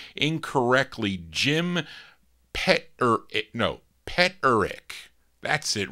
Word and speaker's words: Peterick: Randy says I pronounced his name incorrectly. Jim Peterick.